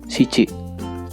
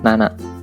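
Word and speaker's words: 七: Untuk angka 7 disebut shichi. Penulisan keduanya nana.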